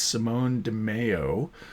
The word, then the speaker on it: Simone Di Meo: by Josh Williamson and I mispronounced his name it's Simone de Mayo uh the last time